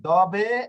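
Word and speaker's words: dove: ইংরেজির মতই কিন্তু দুইটা দিকেই রয়েছে ওকে এরপর ডবে ওকে উচ্চারণ যদি না পারেন তাহলে এটা আপনারা দপ করবেন ওকে না ওকে দবে এর অর্থ হচ্ছে কোথায় ইংরেজি হচ্ছে হোয়ার হ্যাঁ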